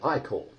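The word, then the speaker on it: ichor: can fit it with magical ey call that's pronounced ey call choose your ey call wisely so we have three options we can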